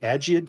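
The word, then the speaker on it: Agiad: Sparta we have the I think it's a soft G agid Kings and Europe haunted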